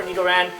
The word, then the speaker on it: Nidoran: starting with Nidoran, and I kind of subconsciously pronounced that in a somewhat Japanese way because the English word Nidoran, or the English name for Nidoran, is the same in Japanese, so it's going to be Nidoran.